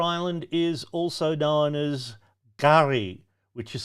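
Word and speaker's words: K'gari: question 34 Fraser Island is also known as gar which is spelled k apost rophe g a r i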